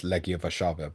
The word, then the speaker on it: Legia Warszawa: immediately, told but me that's Legia Warszawa, by the way. Just, Legia Warszawa. yeah, that's Polish pronunciation.